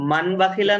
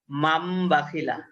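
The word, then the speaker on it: مَنْ بَخِلَ: তো মান বাখিলা না হয়ে হবে মাম বাখিলা।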